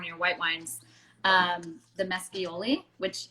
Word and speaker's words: Mescioli: also pour one of your white wines, the Mescioli, which it's going to show it backwards on the screen, but is that how you say it? Yeah, Mescioli.